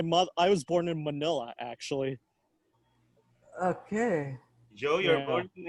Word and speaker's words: Manila: sure go ahead um you always pronounce manila like rhymes to vanilla but i thought manila is pronounced manila can you can you tell me i always pronounce it manila i guess that's just the way we americans pronounce it all right yeah i